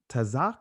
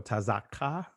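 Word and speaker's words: צַח: Tazak, or tazakka, you could say it that way. Tazaka, or tsaka. All right? Or you could just say tsak, or tazak. All right?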